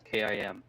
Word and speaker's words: Gim: And I was corrected just a few short days ago calling the uh Uni Kim team that GIM is pronounced the same way as Kim in Korean.